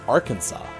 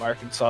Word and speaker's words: Arkansas: thing that's right so there's an s and you don't pronounce it or you do and